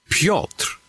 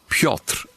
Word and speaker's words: Piotr: Piotr is the Polish pronunciation, the proper way to say it. Piotr, there's a slight trill on the R, but you can say it fast, and you can skip the R.